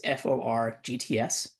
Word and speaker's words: forgts: And funnily enough, like the name is almost spelled like forget. It's FORGTS for GTS, I guess. Anyways, so it's in GitHub. Just look for GTS, like the word for, and then like not the number four, but FORGTS.